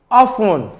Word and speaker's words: often: When the T is pronounced, even in similar structure, for example, in the word mortgage and often, you have the word mortgage. It's not mortgage, it's mortgage, and often both have a silent T, while the word target and esteem do not.